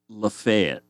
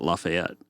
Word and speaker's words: Lafayette: I can't remember if it was half an hour or 40 minutes away from him called uh Lefayet. They don't pronounce it Lafayette.